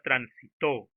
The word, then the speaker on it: transitó: Por ejemplo, la palabra transitó. To es la última sílaba y es allí donde recae la mayor fuerza de voz.